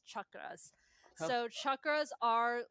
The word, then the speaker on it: chakras: So Chuck Norris, like that's how you pronounce chakras.